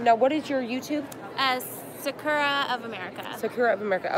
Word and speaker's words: Sakura: Well, in Japan, they say Sakura.